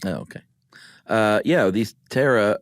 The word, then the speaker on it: pterosaur: okay uh yeah these Tara or starts with a P of course is silent P um that is from